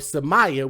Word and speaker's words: Cemaya: The baby, by the name of Semaya, which is spelled Cemaya, which is the 1-year-old.